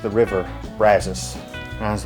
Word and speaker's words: Brazos: get upset when I said the old country Brazos cuz apparently in Texas he pronounced the river brazus and I was like uh okay if any